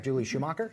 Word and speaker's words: Schumacher: And now you have Julie Schumacher.